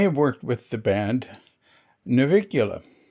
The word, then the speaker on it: Navicula: Anyway, and they have worked with the band Navicula, which they pronounce Napikula. They don't say V. V is not in. There's V and F aren't used in Balinese.